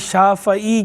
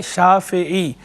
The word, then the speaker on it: शाफ़ई: जब बोलते हैं तो तलफ़्फ़ुज़ में लोग ये गलती कर देते हैं, शाफ़ई कहते हैं फ़े पर ज़बर के साथ, जबकि इसकी दुरुस्त प्रोनाउंसिएशन, सही ज़ब्त इसका वो फ़े के नीचे ज़ेर के साथ है, शाफ़ई, फ़े के नीचे ज़ेर पढ़नी है, इमाम शाफ़ई राहिमहुल्लाह।